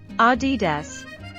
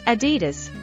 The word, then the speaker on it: Adidas: Adidas. Nope. It's Adidas, with stress on the first syllable.